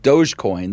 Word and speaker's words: Dogecoin: been been big on called Dogecoin that looks like it's spelled doggy coin and and both Shiba